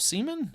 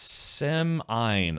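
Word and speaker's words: Semine: Uh, Blatty Pens says, "Why are you pronouncing it like that?" What? The town of Seaman.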